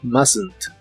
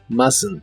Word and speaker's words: mustn't: hacer la contracción mustn't se escribe raro pero se pronuncia mustn't mustn't Esta contracción no es